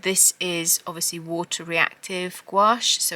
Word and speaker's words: gouache: I was at College I've called it gach I know it's gouache I'm so sorry that I pronounce it wrong but you you know